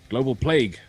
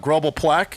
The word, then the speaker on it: Global Plague: Global Plague, not. Global Plaque?